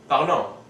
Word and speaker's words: parlons: The ONS is pronounced on, so we get nous parlons.